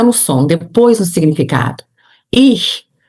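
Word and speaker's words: ich: Ix, você diz, você pode pegar uma caneta e não fecha a boca.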